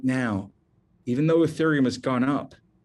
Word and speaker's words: ethereum: is called ethereum and i'm going to spell that for you e-t-h-e-r-e-u-m it's pronounced ethereum if you only buy